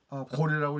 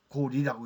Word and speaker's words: 高麗: 그러면 당서도 읽을 때 고래라고 읽으면 안 됩니다. 고리라고 읽어야죠.